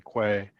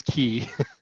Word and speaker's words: Quay: the one that oh that's how you say it key that's the correct pronunciation A lot of people say Quay yeah okay the word the word is key interesting but yeah but